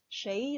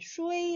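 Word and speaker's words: 谁: 4 누구 숫자 인데요 쉐이 라고 발음합니다 셰 2 슈의 이라고도 발음하는 데 보통 쉐 일을 더 많이 사용합니다 역시 의문 대명사 2조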